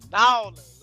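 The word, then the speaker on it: N'Awlins: For all my people from the NO, it's Nolans, all right, man? You got to say it properly, man. If you go to dress the squad, you got to say it correctly. You know what I'm saying? You ain't see the spelling hold on, N apostrophe AWLINS, Nolans, man.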